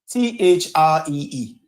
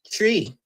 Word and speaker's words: three: T H R E E tree. What? Three. Them don't say three. Them say tree. Them drop the H and say tree.